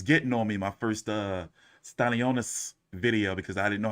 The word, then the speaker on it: Stanionis: They was getting on me my first Stanionis video because I didn't know how to pronounce his name, but I got it now. Stanionis.